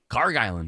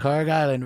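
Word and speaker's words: Kharg Island: Car Island. Car Island.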